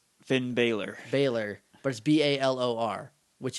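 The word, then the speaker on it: Bálor: I don't I don't know how they're gonna pronounce bail or right it's Finn bailar bailar but a lor which is pale or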